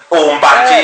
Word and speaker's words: mbanje: bit about the legalization of how do you pronounce it? Marijuana. Marijuana, right? Yes. Just say Dacha or Zulu. Oh, right, okay. Mbanje. Mbanje, yes, Shona.